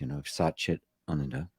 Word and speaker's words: Satchit Ananda: and the word bliss, and the ananda bliss, Satchit Ananda. And I now pronounce it correctly, thanks to an Indian friend of mine who pointed out the right way to pronounce it.